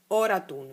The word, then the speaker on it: Oratun: Oratun, vedi? Oratun. Ma si pronuncia ora in inalazione e tun in esalazione, perché ora riassorbe il reale, tun manifesta un nuovo reale, ed è così.